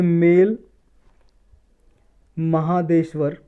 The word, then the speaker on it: Male Mahadeshwara: एक wild life sanctuary है जो रिसेंटली न्यूज़ में थी, ये मेल महादेश्वर, मेल या माले भी प्रोनाउंसिएशन हो सकती है इसकी, मेल या माले महादेश्वर हिल वाइल्ड लाइफ सेंचुरी।